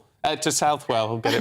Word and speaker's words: Southwell: I lived in Nottingham for years, and it was always Southwell. It's Southwell. But there you go. If the locals say Southwell, then Southwell it is.